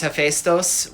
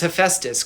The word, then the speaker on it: Hephaestus: Sometimes it's Hephaestos, which is more close to the Greek. Sometimes it's Hephaestus because I can make a funny rhyme with it.